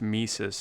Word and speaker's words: Mises: So then the fact that it's pronounced Mises doesn't inspire you to say that you love Mises to pieces?